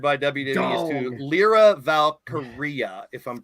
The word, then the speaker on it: Valkyria: Another trademark that was required by WWE is to Lyra Valkyria, if I'm pronouncing it right. Now, a lot of people Valkyrie. No, it's Aria at the end, like diarrhea, like your breath.